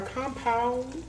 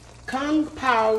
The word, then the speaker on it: Kung Pao: factor meal earlier and here we have our compound chicken is that how you say it kung pao chicken